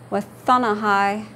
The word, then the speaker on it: Wathanahai: Vowel combination, O and an E, is a long I sound. I, as in the English word, bite. Okay. This word means paper. Wathanahai.